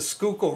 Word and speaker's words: Schuylkill: um but I can assure you it's the Schuylkill River so um if he does a pen